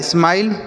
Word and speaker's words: smile: जैसे यस से पढ़ेंगे सौ, एम से माँ, आई का उच्चारण आई हो गया, और एल से लॉ, और लास्ट में ही रहेगा तो नहीं पढ़ेंगे। लिखा है स्माइल, मतलब होता है मुस्कुराना।